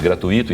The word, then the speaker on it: gratuito: O U à frente do I mais forte ele tem uma pronúncia um pouco mais dificultosa.